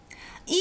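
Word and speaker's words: ㄧ: E is like someone screaming, "Eek, I've seen a ghost."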